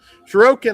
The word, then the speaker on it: Shuriken: Shuriken, I believe, is how you pronounce it, or at least that's how I always have.